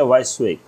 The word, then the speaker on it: WYSIWYG: Okay, ये full form है basically, spelling इसकी क्या है, WYSIWYG, इसको हम पढ़ेंगे वैश्विक.